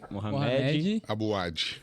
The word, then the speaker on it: Mohamed Abu Wadi: É Mohamed Mohamed Abu Wadi. Abu Wadi. Legal, tava nessa... Lá no Líbano é Mohamed.